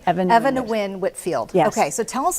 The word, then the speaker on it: Eva Nguyen Whitfield: I was just going to say, how do you pronounce her name? Eva Nguyen Whitfield.